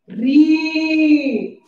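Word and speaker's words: ऋ: बड़ा ऊ के बाद बोलो री। बड़ा ऊ के बाद री। इसे री भी कहते हैं और रू भी कहते हैं। इसका उच्चारण दो तरफ से करते हैं।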